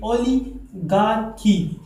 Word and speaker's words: oligarchy: दोस्तों इसका correct pronunciation कैसा है, कहते हैं कि ओलिगार्की। दोस्तों इसका करेक्ट प्रोनाउंसिएशन ऐसा है कि ओलिगार्की। ठीक है दोस्तों, अगर आपने इसको इस तरह प्रोनाउंस किया कि ओलिगार्की या फिर ओलिगार्की, तो ये गलत होगा।